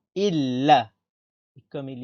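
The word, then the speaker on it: إلّا: Et comme il y a un tashdid, on répète le lam. Illa.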